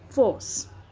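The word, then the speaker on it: force: फोर्स तो आर के बाद सी है तो आर का साउंड इसमें नहीं आएगा, फोर्स इट्स बॉडी थ्रू।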